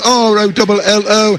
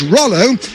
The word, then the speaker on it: Rolo: and you say well it's spelled r-o-l-o and that surely is rollo well that's what i was calling him till i asked him how he liked his name pronounced and he says rolo so luis rolo it